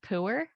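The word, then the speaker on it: Pu'er: I mean, I Puer? see flavors in here. Did I read that right? Puer? I have no So idea. technically it's pronounced pooer, which is somehow Pooer.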